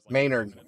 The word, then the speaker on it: Menard: Clearly, we had a tornado on the ground right by Menard. Maynard. Keep going to Maynard or Menard. It's pronounced Maynard, but it looks like Menard.